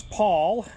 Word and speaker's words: Paul: My name is Paul, and it's as in St. Paul, Papa Alpha Uniform Lima, and I'm running 77 watts into an FT-991A.